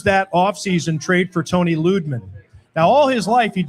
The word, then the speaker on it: Lidman: And he's like, it's pronounced, everybody says Lidman, but it's really Ludman.